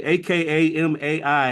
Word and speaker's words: Akamai: He has founded and led numerous impactful organizations, including Asset Builders of America, Landrich, Climb USA, aka MAI. How do we pronounce that, Bob?